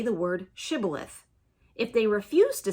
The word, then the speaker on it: shibboleth: they said to him then say shibboleth and he said sybileth for he couldn't pronounce it right then they seized him